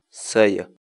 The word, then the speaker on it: saya: de videos en la que te enseñamos a pronunciar algunas palabras en quechua. Así que nuestra palabra del día por hoy es... Sayo.